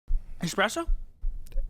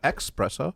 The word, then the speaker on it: espresso: still represents something special espresso espresso not expresso espresso or special yeah your